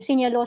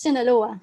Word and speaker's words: Sinaloa: Like, di ba palagi yung sinasabi, sinyalo sa drug cartel, it's Sinaloa.